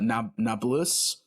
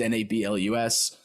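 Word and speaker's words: Nablus: to Paris from uh na naus uh a town in Palestine I'm probably mispronouncing that it's nabl us yeah full disclaimer listeners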